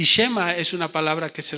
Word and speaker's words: Shema: Esta palabra, oye Israel, en hebreo se pronuncia Shema. ¿De acuerdo? Y Shema es una palabra que se repite en muchos lugares de la Biblia.